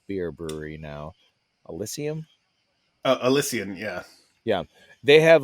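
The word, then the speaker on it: Elysian: for the pumpkin episode there was an uh alysium is that how you pronounced it e y I mean it's it's an AB inev Craft Beer Brewery now alysium oh alysian yeah yeah they have like a pumpkin mix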